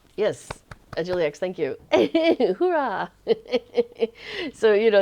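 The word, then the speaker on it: hoera: from a lotro player I have learned like hurah how to spend that spell that in Dutch which is like h o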